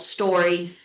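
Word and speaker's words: STQRY: But um with this product that we're looking at, it is a company called Story. And it's weird because it's spelled ST QR Y.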